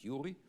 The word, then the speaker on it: Uri: I call it Uri because it's an Israeli name. Some people will pronounce it Yuri.